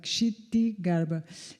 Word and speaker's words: Kshitigarbha: E o modo de escrever o nome de Kshitigarbha é K-S-H-K-S-H-T-I Garbha, Kshitigarbha. E a razão pela qual eu me confundo quando diz é que ela pronuncia Kshitagarbha.